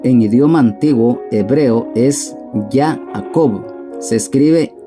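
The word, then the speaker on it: יעקב: de Jesús Jacobo en idioma antiguo hebreo es yaacob se escribe y griega 2 a q o b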